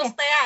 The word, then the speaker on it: Crustea: Bacanya gimana sih? Krasti kan Krustea karena kita dari benar kan karena kan pembilang dulu kita mikirnya ya kan dia cerita Kasti.